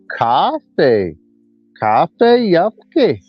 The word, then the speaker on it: Kafe yvfke: I gotta say it right. If you don't have the accent, you ain't speaking Creek. It's got to be Kafe yvfke.